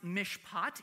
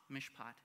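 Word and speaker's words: מִשְׁפָּט: word of all time uh this word is pronounced Mish pot Hebrew goes right to left so we're starting over here Mish break in the middle pot Mish poot go and say Mish poot with me on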